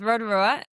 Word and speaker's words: Rotorua: No, so there's Rotorua in the North Island, which is actually pronounced Rotorua, and then there's one down the South Island called Lake Rotorua.